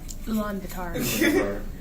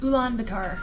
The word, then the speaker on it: Ulaanbaatar: Let me see if I pronounce the name real quick. Hold on. Nope. Ulaanbaatar. Huh? Ulaanbaatar.